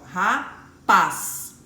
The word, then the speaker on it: rapaz: Quando eu falo, ó, eu consigo entender que paz é a sílaba mais forte, ó, rapaz, né?